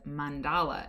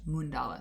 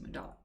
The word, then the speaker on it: Mandala: And I said Mandala, and I believe it was Sohani who said, it's pronounced Mundala, so I pronounced it Mundala.